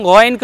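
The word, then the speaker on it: غ: উচ্চারণ হবে কি গ, মোটা হবে। দেখুন গা না, গা বলবো না, গ। এবং গয়নকে উচ্চারণ করার সময় আমরা ঠোঁট গোল করবো না, গ বলবো না।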